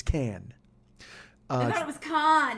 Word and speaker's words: Cannes: And this is what, it is not at Cannes. And don't pronounce the S. You fucking bumpkin. So, it is look at you with the flip off. But, you rube. It's not Cannes. It's Cannes.